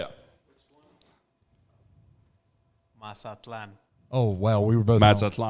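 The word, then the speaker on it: Mazatlán: Martin, can we get a proper pronunciation? Get to the mic and say it. Mazatlan.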